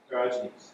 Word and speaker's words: Diogenes: Is that Diogenes? How would you call this? Do you know this guy? Diogenes.